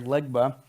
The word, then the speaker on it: Legba: That's how you say it there, Legba.